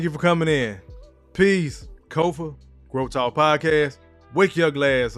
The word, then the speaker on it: Kofa: I am your host, Kofa, K-O-F-A, not coffee, not kufu, not Kofi, or any variation thereof. Kofa rhymes with sofa, easy to say, easy to spell.